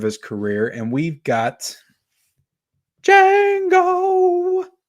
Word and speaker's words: Django: later part of his career and we've got jango said it right that time uh versus shutter